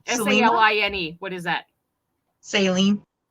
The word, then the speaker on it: Saline: And Salina, they spelled the county name wrong. Selena? Saline.